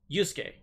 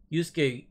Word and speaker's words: Yusuke: Yusuke, the main protagonist.